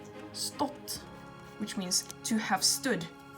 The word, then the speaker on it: stått: which means to have stood uses a short because there are two constants afterwards so it's stopped and not Stewart this is not Stewart that's very wrong its spot and sometimes people probably accidentally